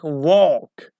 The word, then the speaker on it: walk: For example, if you see L after A, like walk, like long or walk, okay? Talk or bulk. So L isn't pronounced.